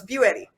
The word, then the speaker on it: Buetti: Nicole Buetti. Very close. Buetti. Buick, like Buick.